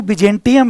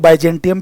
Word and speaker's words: Byzantium: ये जो selling to बिजेंटियम है, जिसको लोग बाइजेंटियम भी कहते हैं, बट वो गलत प्रोनाउंसिएशन है। मैं भी पहले इसको बाइजेंटियम ही कहता था, बट इट्स एक्चुअली बिजेंटियम।